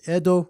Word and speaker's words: Edo: But basically, it's a pun on Ed, which in Japanese would be pronounced as Edo, as in the Edo